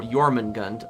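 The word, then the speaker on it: Jörmungandr: And Jay is pronounced a Y sound. Oh, Yorman Gund.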